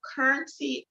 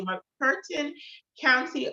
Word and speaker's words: McCurtain: is a news Outlet in the currency excuse me my curtain let me say it correctly my Curtain County Oklahoma y'all these three individuals